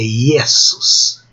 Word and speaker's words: Iesus: Não é G, é Iesus.